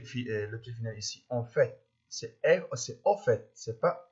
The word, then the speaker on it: en fait: Ici, on doit prononcer le T final. En fait, c'est pas en fait, c'est en fait.